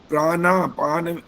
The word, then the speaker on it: प्राणापान: प्राणा पान, ये न का उच्चारण नहीं होता आपका, और संधि विच्छेद करके भी बोलते जा रहे, वो भी गलत हो रहा है।